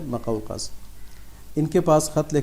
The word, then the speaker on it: مقوقس: میم پہ پیش ہے اور قاف پہ زبر ہے، مقوقس. اس کو کچھ لوگ مقوقس پڑھتے ہیں لیکن صحیح تلفظ اس کا ہے مقوقس.